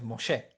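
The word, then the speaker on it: משה: son tres tres consonantes moché como se suele leer porque el H final nunca se escucha no nunca se pronuncia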